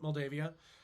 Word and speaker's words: Moldavia: I think it's a regional pronunciation, but Moldavia. It's good to say Moldavia just so you know there's an A in there instead of an O.